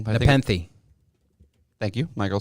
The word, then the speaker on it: Nepenthe: I don't want to pronounce it wrong. But Nepenthe.